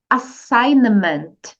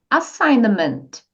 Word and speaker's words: assignment: inglês tarefa é assignment assignment Então essa letra g aqui você não precisa nem se preocupar em pronunciar fica assim ó assignment Repita comigo assignment ok e outra coisa